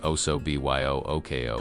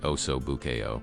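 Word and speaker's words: osso buco: Again, he mangled the pronunciation deliberately, saying, "Oo, B Y O Ko" instead of the correct oso buou.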